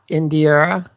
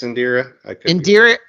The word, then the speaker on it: Indira: name uh in India in i-n-d-i-r-a in dire I Indira I think it's Indira Indira Varma uh who